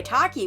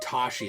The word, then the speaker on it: Taki: just straight up die who by the way Taki was fine is that how you actually pronounce her name I don't know yeah that's how you pronounce I thought it might be like Tashi like Tashi station pick up some power no